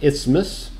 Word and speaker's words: isthmus: but it is and that there is an isthmus that's how you pronounce it um very interesting history okay so